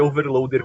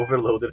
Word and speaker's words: Overloadr: você é redirecionado pro Overloader também. Olha a malandragem. Tá só pra ter a garantia. Porque, falando Overloader, você nunca vai presumir, né, que é um R mudo.